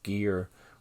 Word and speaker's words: Gere: I got right here, like Richard Gere, which rhymes with gear because it's the exact same word.